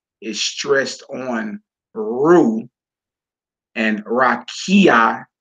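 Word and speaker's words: רקיע: stressed on Rue and rakia is stressed on key god bola is stressed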